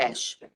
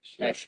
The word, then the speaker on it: Cache: Cache. Cache. It's like a fur trapper's cache.